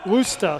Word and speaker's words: Worcester: game Worcester State loser Worcester rooster according to the pronunciations rooster State got a